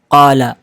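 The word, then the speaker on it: قال: अब आते हैं कुरान के फिफ्थ मोस्ट रिपीटेड वर्ड पर जिसे हम प्रोनाउंस करते हैं काला।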